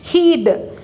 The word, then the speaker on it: he'd: Heed. H-E-D. Heed. H-E apostrophe D must be pronounced as heed.